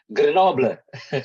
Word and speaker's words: Grenoble: And for his master degree, he taken in management, Grenoble, Paris. My pronounce is correct, Professor Muhammad Ali? Grenoble? Grenoble. Oh, Grenoble. Okay, in management or management?